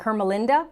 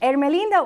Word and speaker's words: Ermelinda: word like perseverance pilot maybe in english you might pronounce it more like hermalinda or vina born in ecuador in 1905 ermelinda urina had the dream